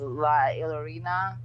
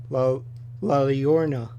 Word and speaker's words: La Llorona: And the other one was, I want to do the pronunciation correct, but it was La Llorona. Oh, yes. La Llorona.